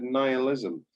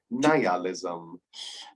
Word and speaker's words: nihilism: in one word and you said nihilism you didn't say it like that niallism uh this was written